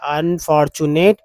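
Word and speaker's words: unfortunate: Not stop these अनफॉर्चू टी यू को चू बोलते हैं और ए टी ई को एट बोलते हैं, लगा नेट हो गया। अनफॉर्चुनेट goats from running running straight into the jaws of death are these.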